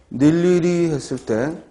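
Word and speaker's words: 늴리리: 닐리리 했을 때 발음은 닐리리 하고 나더라도 모음이 의죠. 닐리리 하고 즉 닐리리 하고 의모음인데 발음이 이로 나는 거죠.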